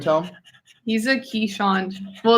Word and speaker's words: Keeshond: He's a Keeshond. Well, it's pronounced Kazund, but everyone says Keeshond.